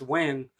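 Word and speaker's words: Nguyen: well there there's like a Vietnamese name it's pronounced win but it's spelled like Nuy G yeah or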